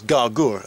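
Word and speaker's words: Għargħur: the outskirts of gagor normally gh is silent in maltese but for some reason it's gagor and not these are the victoria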